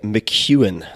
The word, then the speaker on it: McKeown: Tim Ferriss show my guest today is Greg McEwan that is spelled MC ke o WN Greg is the